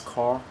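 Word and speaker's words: Qor: recently this one is called uh cor uh Q o r it's pronounced as cor so there are a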